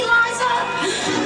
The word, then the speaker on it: Liza: It's Liza with Z, not Lisa with an S, cause Lisa with an S goes snuts.